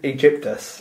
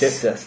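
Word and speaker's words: Aegyptus: I think it's Egyptus. Egypt. Ooh, nice. Egyptus. Danaides? It's spelled A-E-G-Y-P-T-U-S. It's basically Egypt, but...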